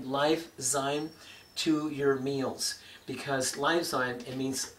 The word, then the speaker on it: Liyfzyme: to consider adding Lifezyme to your meals, because Lifezyme, it means, it's spelled L-I-Y-F, Lifezyme, and that means life in your food.